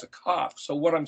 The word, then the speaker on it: Kaf: a het, but and the letter kaf is actually not pronounced like a K like we do, but